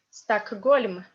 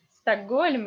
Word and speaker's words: Stockholm: So, or, this or is stressed. So this or is unstressed. So sta. And normally, if you have in English this lovely letter H, in Russian it becomes G, stuck, G, Stockholm. And another funny example is